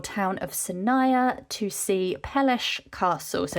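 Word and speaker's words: Peleș: the village or town of Saia to see peles Castle so it's spelled p but it's pronounced peles so we got dropped off and then made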